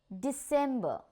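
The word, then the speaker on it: Dezember: So in English we pronounce it as November, and in German also it is November. Okay? December.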